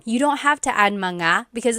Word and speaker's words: mga: something plural, you have to add the word mga. So mga kids, but in the question form, you don't have to add manga because it's already implied.